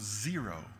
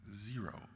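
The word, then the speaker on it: Xero: governance it's something it's something called zero spelled with an X zero it's a fairly commonly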